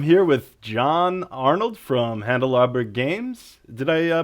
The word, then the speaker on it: Handelabra: with John Arnold from handle our burg games did I pronounce that right yep and glabra games like candelabra yes exactly just like candelabra Jeremy's last name is